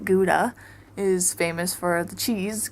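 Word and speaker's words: Gouda: the cheese weighing house so so Howa spelled like guda is famous for the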